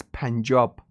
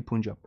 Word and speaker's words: Punjab: Even the word Punjab means, I think the correct pronunciation is Punjab, but in English they say Punjab.